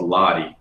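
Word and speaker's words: Lattie: that i was in uh called called called lottie it's spelled l-a-t-t-i-e and uh post-production is gonna start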